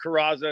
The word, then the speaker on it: Curaza: Well, it's Curaza, and most people do, so you're not alone.